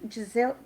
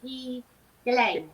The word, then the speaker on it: Ghislaine: Is it Giselle? Oh, it's a Ghiaine. Yeah. It's Ghislaine.